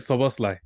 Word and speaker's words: Szoboszlai: Dominic Szoboszlai.